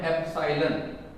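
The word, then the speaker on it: epsilon: बहुत सारे बच्चों को इसका सही करेक्ट प्रोनाउंसिएशन नहीं पता होता। इसका करेक्ट प्रोनाउंसिएशन क्या है, इसका नाम है एप्सिलॉन। चूंकि यहाँ 0 लगा हुआ है तो इसलिए इसको हम क्या कहेंगे, एप्सिलॉन नॉट कहेंगे, ठीक है ना।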